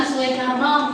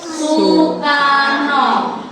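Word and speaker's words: Soekarno: saya apa Iya apa penyebutan suekarno bukan suekarno bukan seokarno tetapi Sukarno o dan e itu ada adalah ejaan lama u ejaan ejaan lama dan kamu harus tahu kalau itu membacanya U Oke S Karno membacanya Sukarno Nama orang dulu menggunakan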